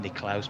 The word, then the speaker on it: Nicklaus: Niklaus or Nicholas, obviously named after the golfer who was probably properly to be pronounced Niklaus, but everyone just called him Jack Nicklaus, didn't they?